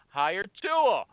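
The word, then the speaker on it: Hiretual: H I R E as in hire, and Tual, T U A L as in mutual. Hire Tual. My buddy there is the COO. His name is Nin Tran, okay? Now, Hire Tual is a sourcing tool.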